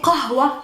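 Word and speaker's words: قهوة: Qahwa means coffee in Arabic, and it's not ka, it's qa. Qahwa. Qahwa. The difficulty is that you have to pronounce the ka guttural, qa, and after it you have to put a normal h, an aspirated ha sound. So imagine qahwa. That's a difficulty in the word coffee.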